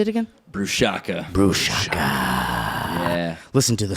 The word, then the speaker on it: Brushaka: Brushaka.